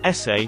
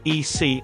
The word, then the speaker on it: ese: stuck on the word ese she quickly interjected oh I think you pronounce it EC I think they just made it up like their own nickname I am Mexican it's pronounced like si and it's equal to